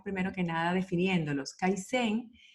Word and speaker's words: kaizen: que nada definiendo los kaisen tiene dos sílabas skype en el idioma